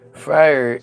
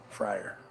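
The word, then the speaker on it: Freier: It's It's more like like fry or like the emphasis is hard on the eye.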